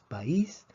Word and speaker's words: país: vocal cerrada por ejemplo la palabra país tenemos dos sílabas país y vemos que la i se acentúa porque aquí tenemos un hiato entonces cuando tenemos una